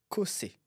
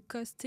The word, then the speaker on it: Cossé: sur LinkedIn, ça va, mais par exemple sur Instagram et cetera, c'est costé. Il y a pas l'accent souvent. Donc mon nom de famille est souvent écorché.